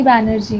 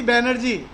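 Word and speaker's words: Bonnerjee: डब्ल्यूसी सर डब्ल्यूसी बैनर्जी। डब्ल्यूसी बैनर्जी। Bengali बाबू, बैनर्जी को क्या बोलते हैं? बनर्जी। तो ये प्रोनाउंसिएशन है, तो बैनर्जी बोलो या बनर्जी बोलो।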